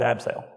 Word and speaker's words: Abseil: have to change it let's change that C to an S and just keep pronouncing it abseil that is literally what